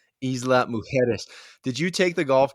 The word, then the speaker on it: Isla Mujeres: We're gonna have to work on your Spanish pronunciation, by the way. Isla Mujeres.